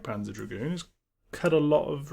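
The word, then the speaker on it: Panzer Dragoon: yeah Dragon the second the second o is Silent not pan not not Panza draon no yes Panza draon so Panza remake is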